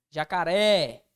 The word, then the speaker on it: jacaré: é oxítona ou seja sílaba tônica recai sobre a última sílaba jacaré é uma oxítona Professor beleza mannia é